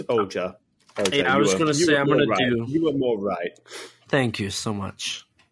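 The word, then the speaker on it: Ohger: we will be getting the Osama Sentai King Oak Oakland again with our pronunciations being truly great ah it's oja okay thank you so much God damn it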